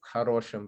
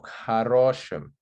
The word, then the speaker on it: хорошем: It's not an om ending because we have an unstressed o, meaning it's not в хорошем ресторане, it's в хорошем ресторане. So the stress is on the second o and not at the end.